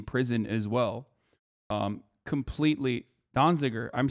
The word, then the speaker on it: Donziger: 45 days in prison as well um completely donziger i'm saying it right okay everybody shut up